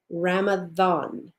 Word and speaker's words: Ramadan: way it's still pronounced Ramadan as if it were a th that is the proper pronunciation again those are the